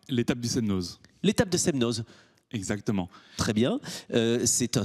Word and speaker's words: Semnoz: ribat vous diriger l'antenne de ses meneuses c'est ça on le prononce comme ça côté d'annecy l'étape du semnoz l'étape de ses meneuses exactement très bien c'est